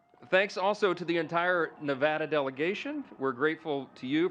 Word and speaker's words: Nevada: So we always say Nevada, and now it's supposed to be Nevada.